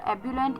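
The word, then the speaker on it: ebullient: इसी के बाद जो फोर्थ वर्ड है श्याम का वो था एबुलेंट।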